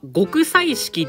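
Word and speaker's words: 極彩色: いいですかあ極彩意識っていう読み方らしくで極彩意識って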